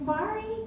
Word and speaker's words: Marji: my name wrong so my name is Mari you notice it has a silent letter this has forced me